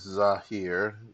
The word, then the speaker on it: Zahir: to thank you um how is his name pronounced his name is Zahir z a a h i r no no